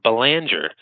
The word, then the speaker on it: Belanger: Actually, I live in Massachusetts where we pronounce it baler. Uh when but when I'm in Canada or France, I do pronounce it boner because it's a certainly a French name.